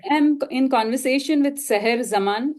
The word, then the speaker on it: Zaman: am in conversation with Sahar Zaman. Am I pronouncing your name correctly? Sahar There's Zaman. Zama. Zama. Okay.